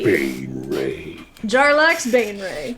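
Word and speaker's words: Baenre: will fight jarla um ban Ray so b a e n r e Bane Ray jarla Bane Ray t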